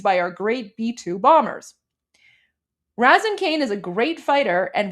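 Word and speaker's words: Razin Caine: Pronounced Raisin. Okay. I appreciate that. Raisin. Thank you, Americans. Raisin Kane.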